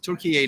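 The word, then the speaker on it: Türkiye: So Togg is another company from Turkey, or Turkiye, as I was supposed to pronounce it, Turkiye now.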